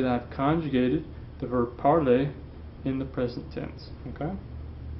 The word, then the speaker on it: parler: That sounds the same as the infinitive. Parler, parler. Okay? The easy ending and the ER ending make the same sound.